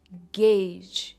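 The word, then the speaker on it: gauge: इट is single syllable, गेज, जिसका मतलब है टू एस्टिमेट या मापना या अंदाज लगाना, उसे कहते हैं टू गेज।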